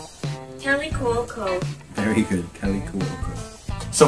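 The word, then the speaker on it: Kaley Cuoco: Kelly Cuoco.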